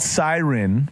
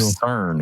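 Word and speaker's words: SYRN: It's called Siren, but it's spelled S Y R N. So, Jeff can't pronounce this I don't blame you. Cern.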